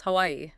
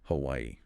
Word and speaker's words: Hawaii: Pronounce all three syllables. Hawaii. Hawaii.